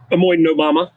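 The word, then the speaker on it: Omoi-no-mama: She says the cultivar Omoi Nomama, want to correct my pronunciation? Omoi Nomama.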